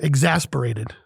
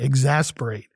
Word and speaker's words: exasperate: I am exasperated with this topic today. And that's our word of the day, exasperate. E-X-A-S-P-E-R-A-T-E. 4 syllables.